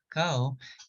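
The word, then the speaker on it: kakaw: So also the Mayan word for cacao is cacao, which is spelled K-A-K-A-W.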